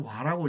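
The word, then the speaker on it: 倭: 그러니까 제일 동해에서 제일 남쪽에 있는 외인대로, 우리는 외라고 있지만 이게 와입니다. 원래 후한서부터는 와라고 읽으라고 돼 있어요. 우리 편의상 지금 외라고 이제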